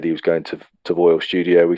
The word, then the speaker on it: Foel: I think it's pronounced Foel. It's actually spelled Foel, Foel Studio.